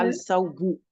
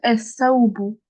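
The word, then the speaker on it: الصابون: Alors là, c'est juste, t'as bien prononcé, juste le lem, on le prononce pas. Parce que ici, il y a une shadda, ok? Du coup, je vais dire es-saoubou.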